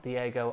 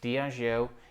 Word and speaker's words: Diageo: is up two percent diageo not diego as i used to pronounce it incorrectly diago is currently down 0.5